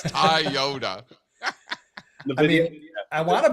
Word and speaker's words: Toyota: Uh and then he he also calls it Tayota instead of Toyota. It's Taiyota.